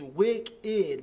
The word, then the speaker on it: Wick3D: That last artist that we just played is Wicked, but it's spelled Wick3D.